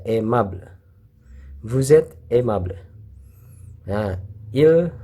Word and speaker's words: aimable: ai itu dibaca e. Ya, ini le-nya nggak dibaca, aimable.